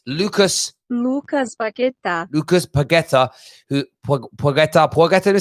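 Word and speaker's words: Paquetá: The name, I'm going to get Google to tell you how this pronounced. It's Lucas Paqueta.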